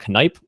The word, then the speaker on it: Knipe: He's one of the managing editors for Radiopedia, is Henry Knipe, and you actually pronounce the K.